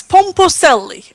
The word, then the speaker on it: Pomposelli: Yes, Pomposelli, Alessandro Pomposelli. Okay. And I don't have a good Portuguese accent, but No. that's how you should say it.